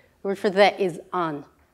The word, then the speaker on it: an: The word for the is on.